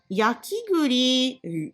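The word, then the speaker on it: 焼き栗: Yakiguri, marron grillé, parce qu'il y a le mot devant le kuri. On a changé prononciation de kuri par guri.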